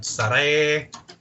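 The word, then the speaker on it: Sarray: Her NXT name is pronounced Saray, as far as I'm aware. Because I heard Sari, I heard Surrey, I heard Saray. Yeah, I think Sari is how they pronounce her old Japanese name, but the way that they pronounce it in NXT now is Saray. It's because she's like a ray of sunshine.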